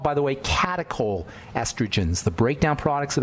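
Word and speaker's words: catechol: which accumulate these are called by the way catacol estrogens the breakdown products of estrogen are called catacol estrogen that's spelled c a t e c h o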